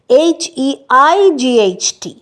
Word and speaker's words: height: Same is the case with হাইট, HEIGHT।